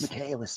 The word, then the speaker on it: Michaelis: announcer guy's name again Michaelis Michaelis Michaelis that's how it's pronounced so and then the